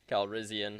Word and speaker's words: Calrissian: I probably butchered that, didn't I? Lando Calrissian. Calrissian.